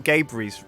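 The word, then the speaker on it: Gaberry: We thought we were pronouncing Gabery's wrong, but we're pronouncing that right, I guess.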